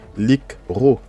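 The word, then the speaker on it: לקרוא: Et vous voyez que le lik, bah, c'est une syllabe fermée parce que c'est une syllabe en fait qui peut vivre un peu indépendamment de l'autre. Lik ro, ok? Donc le Sheva ici ne se prononce pas.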